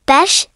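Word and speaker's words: beş: dort, pronounced like dirt, bes, pronounced like besh, alti, pronounced like alta, yedi, pronounced like yedi, sikis, pronounced like shkis, dokus, pronounced like dokus, on, pronounced like on.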